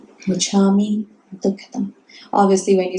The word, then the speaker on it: Michammi: What is the pronunciation again? Micha me, m i c h.